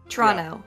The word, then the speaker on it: Toronto: well I'm from Toronto not Toronto not Tirana but Toronto frano Toronto that's how you say it and you would